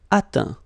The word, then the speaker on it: atteint: Atteindre, atteint. Éteindre, éteint. Feindre, feint. Peindre, peint. Teindre, teint. Okay, as usual, final T not pronounced. Atteint, éteint. Fin, peint, teint.